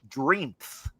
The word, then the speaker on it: Dreamth: But this store down in Bloomington, the name of the store was Dreamth. So it's the word dream and then put a TH at the end of it.